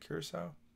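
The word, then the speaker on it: Curaçao: curacao curacao curacao that's how you say it Curacao okay Curacao what does it mean cure so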